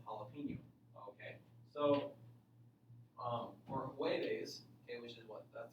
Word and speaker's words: jueves: So for jueves, okay, which is what? That's Thursday, right? Okay. Yeah. Okay. Jueves is with a J, but it's pronounced ha.